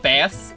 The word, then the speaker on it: Bass: Just like how it's pronounced bass in Pokemon, or not Pokemon, in Mega Man. You know, it's Bass. Bass, the Mega Man robot.